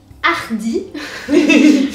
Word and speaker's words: hardi: And in French it is hardi. So spelled exactly the same, but So I'm much just variation. insisting on the pronunciation here because it's the same word.